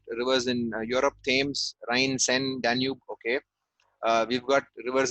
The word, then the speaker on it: Seine: Okay, it's called the Seine. Siene. Siene. Seine. Of course, it's pronounced a little different than it's spelled, like French words.